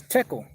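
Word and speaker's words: Tekel: the ancient hebrew language the qual that's pronounced as tekl and basically means you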